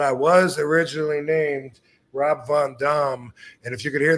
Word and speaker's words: Van Dam: word for that and the question was that we've been saying it wrong all this time actually the real answer to that yes seriously the name that I was given was Rob Von Dam what y believe it